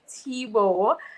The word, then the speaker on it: Thibaud: So my name is Thibaut. It's spelled Thibaud, but pronounced Thibaut because my grandparents are Haitian. My dad was Bahamian, but his parents are Haitian, so it's a French Creole name.